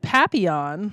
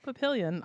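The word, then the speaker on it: Papillion: A lot of you called in when I said Papion a few months ago. It's Pilion. I have learned.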